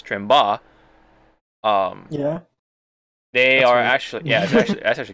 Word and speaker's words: Tremba: So one of the companies, Quamba, or actually I learned the actual pronunciation for it, which is Tremba.